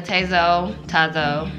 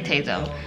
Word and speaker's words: Tazo: Right now I'm loving the Tazo, how do you pronounce it? I say Tazo.